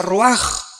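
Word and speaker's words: רוּחַ: Se pronuncia roaj. Por ejemplo, cuando hablamos del Espíritu Santo, el Espíritu Santo es roaj, el kadh.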